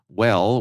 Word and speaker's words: W3LL: WELL, we note, is spelled W3LL because, of course, it is.